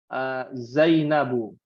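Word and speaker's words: زينبُ: Dulu kita belajar yang namanya Zainabu. Zainabu. Ya. Aisyatu. Harusnya kan kaidahnya pakai alif lam, pakai tanwin ya. Maka dia tidak dibaca tanwin, dibacanya dhammah.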